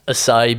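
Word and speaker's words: açaí: Was it acai berry?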